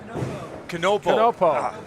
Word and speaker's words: Canapo: Yeah, So the K is pronounced. Canopo.